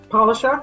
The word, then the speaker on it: Polishuk: We are live tonight with Polishuk. Is that how you pronounce it? Polishuk, that's very good.